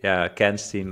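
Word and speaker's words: Kanstein: And then I say, Kenstein, like Goldstein. Yeah, that works.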